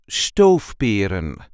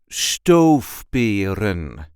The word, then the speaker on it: stoofperen: is how we say stove stove there is a light emphasis on the first syllable stove stove stove pin